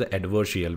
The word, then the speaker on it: adversarial: mean adverse real okay sorry for my pronunciation adverse real it is not advisory it is adversarial which is called as